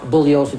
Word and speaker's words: Bugliosi: Spence, my name is pronounced Bugliosi. The G is silent. I've told you this several times.